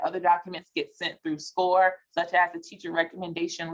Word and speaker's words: SCOIR: You may have heard about SCORE a lot starting last year, but SCORE is spelled SCOIR. It doesn't necessarily look like it's pronounced SCORE, but that is what we use internally to send, to communicate with the Common App.